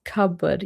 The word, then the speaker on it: cupboard: Cupboard, but I've only heard it pronounced cupboard. Yeah, I think that's the thing. It's like the P is very soft, isn't it?